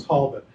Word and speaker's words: Talbot: so this should be and like all english as opposed to american proper nouns the emphasis is not on the second syllable so fox tall bot